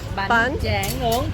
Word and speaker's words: Bánh tráng nướng: Bánh tráng nướng.